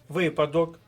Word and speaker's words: випадок: останній пункт нашого уроку слова з наголосом на перший склад нагадую для виконання тренувальних